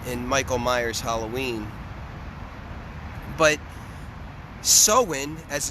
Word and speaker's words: Samhain: we are approaching some as people would say Samhain at least in in in in in Michael Myers Halloween but soin as it's actually pronounced or so Quinn so